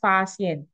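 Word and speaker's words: Faxian: Contohnya tadi, Fahien itu loh bacanya kan Fasien.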